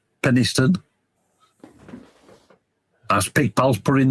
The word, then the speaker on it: Penistone: That's right, D-Dub, Penis Town. Although it's pronounced Penistone.